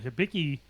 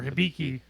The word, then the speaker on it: Hibiki: something that's generally not available right now while hibiki or hibiki depending on how you pronounce it you can find it at most